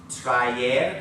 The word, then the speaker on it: traer: Traer, again, not a diphthong. You pronounce each letter separately there.